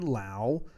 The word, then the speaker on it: Lowe: Then at second base, we have Brandon Lowe, or Lowe, either way, to pronounce it.